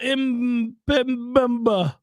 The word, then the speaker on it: Mbemba: Samuel Mbemba is an outside linebacker. That's how he says it. That's exactly the way his parents pronounced the name.